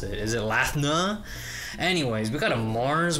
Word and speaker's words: Lathna: Lathna, the Japanese, they pronounce it like Latoni, so I don't know how to properly pronounce it. Is it Lathna?